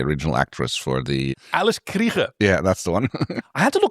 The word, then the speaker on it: Krige: Alice Krige. Yeah, that's the one. I had to look up how to pronounce her name, because it's... I was wondering about that, yeah. She's South African, so Krige. Krige.